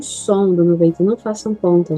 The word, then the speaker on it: cent: E vamos para o último, que 100, como seria 100 em francês, eu pronuncio som, não falaria o T, som, mas com a vogal, sim, eu falo.